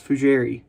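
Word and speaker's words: fougère: it um very fugiary no it's not jerry it's fujiri i'll be honest i'm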